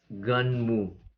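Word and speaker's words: Gunnm: the manga is uh the spell as g-u-n-n-m but it is spelled i dispel it is read as gun mu so this was released long time ago 1990 to 1995.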